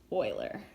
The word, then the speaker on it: Euler: so I know it looks like Euler we pronounce it boiler and he was a famous mathematician so ILI's